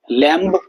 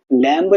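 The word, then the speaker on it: lamb: लैम्ब, लैम्ब नहीं बोलते, लैम बोलते हैं, लैम।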